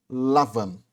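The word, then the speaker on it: לבן: A palavra Labão, meu irmão e minha irmã, no hebraico é a palavra, se pronuncia Lavan.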